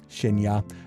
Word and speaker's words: Shinya: I assumed you'd see Shiny first. Nah, Shinya.